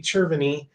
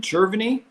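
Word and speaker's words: Cerveny: how and why it occurs," said said Randy Cherviny, an Arizona State University.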